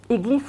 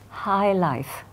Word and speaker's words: high life: Iglif was the pride of the family. Iglif was high life, pronounced in the French way by my grandfather's family, who were so